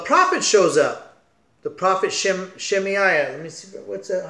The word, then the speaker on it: Shemaiah: And the prophet shows up, the prophet Shemaiah. Let me see, what's that? How do you say his name? Yeah, Shemaiah.